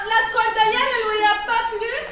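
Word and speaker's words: σκορδαλιά: Et avec la prononciation grecque, scordalia.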